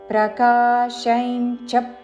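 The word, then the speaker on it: ప్రకాశం చ: ఈ చరణంలో అనుస్వారములు తరువాత చా అక్షరము ఉన్నది కాబట్టి అనుస్వారము ఇన్యా ఉచ్చారణ. ప్రకాశంచ ప్రవృత్తించ.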